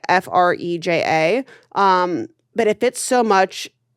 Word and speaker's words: Freja: It's Freja. That's how you say it. Freja.